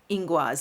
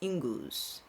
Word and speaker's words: Ingwaz: Now, I've heard this rune pronounced two different ways. I think the first, I heard Inguaz first, and I've heard it the most often, and that's why it's in my ear that way. But I've also heard it pronounced as Inguz.